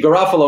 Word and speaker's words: Garafolo: Or they'll say Garofalo and say, oh, I'm sorry, I said it wrong. And I say, no, actually, you said it correctly. That's the European pronunciation.